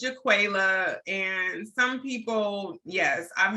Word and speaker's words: JaQualia: to help me out which is the right pronunciation no you got it right it's jaquela and some people yes